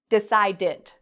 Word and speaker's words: decided: Decide ends in a d sound. So we can add the ed and it makes an id pronunciation, decided.